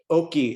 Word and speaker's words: Oki: Just Oki is how you say hello in Blackfoot. And so I just wanted to, I meant to say that at the very beginning, so sorry about that. So Oki is how you say, well, hello, or it's welcome in our language.